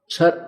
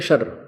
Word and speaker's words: क्षर: दो परमात्मा दो भगवान है छर छर पुरुष और अक्षर पुरुष छर अक्षर क्षर इसको वैसे उच्चारण करते हैं शर सर लेकिन हम समझाने के लिए इसको देसी भाषा में बोला अपने संत भाषा में